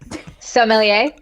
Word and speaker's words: sommelier: or however you pronounce it how do you pronounce it emily sommelier sommelier okay dopalovo dopalova uh demi lovato right